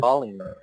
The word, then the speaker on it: falling: Falling. Yes, pronunciation with O, like falling.